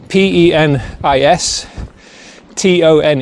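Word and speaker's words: Penistone: eye because it's spelled P E N I S T O N E. So it looks like it looks like penis tone basically, but I think it's pronounced peniston as far as I know.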